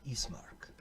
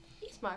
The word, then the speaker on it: Ismark: Name Ismark. Ismark, I'm Visenya. It's lovely to meet you. It's a pleasure. How do you spell it? I-S-M-A-R-K. Okay, as it sounds.